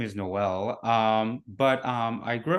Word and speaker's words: Noel: your name right yeah it's actually pronounced um like Christmas like Noel so it's like a